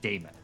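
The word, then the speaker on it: daemon: recording cyber Punk is they still spelled demon throughout all the dialogue d a e m o n and there is no reason to do that unless you want the pronunciation Damon there's no reason to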